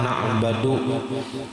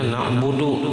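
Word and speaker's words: نعبد: Au fathiyah atau dibacanya fathah na'badu. Nah nang bujurnya na'budu dibacanya na'badu atau na'bidu.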